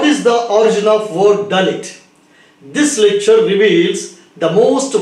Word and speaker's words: Dalit: The linguistic structural construction of Hebrew letters in the word Dalit belongs to the Semitic family of languages. When it is pronounced, it sounds like delight or delete.